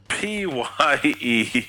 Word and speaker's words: Pyewacket: Pyewacket. Pyew. I had to give up already. Well, I watched Pye and then whack it.